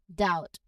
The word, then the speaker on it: doubt: Similarly with doubt, the B is silent before the T. Doubt. No, with clear diphthong ow in this word. Now you don't hear a B sound in there at all.